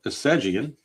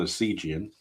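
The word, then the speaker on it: Essegian: And now we have left fielder Chuck Assegian. I'm assuming it's pronounced Assegian and not Asigian. I'm going to guess it's Assegian. If anybody knows for sure, let me know. I'm guessing it's Assegian.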